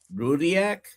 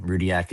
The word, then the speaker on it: Rudyak: Rudiac. Is that correct? That's so well pronounced. Yes. Yes, Dr. Nelson. Rudiac is right.